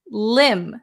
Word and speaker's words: limb: the next one is Lim Lim silent B a limb is very